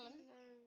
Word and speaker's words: ln: Oke, jadi nanti kalau kalian ketemu bahasa len ini kita baca LN ini, LN, bacanya len.